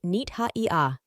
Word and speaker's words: Nith-Haiah: Cosmic ID card name pronounced nita.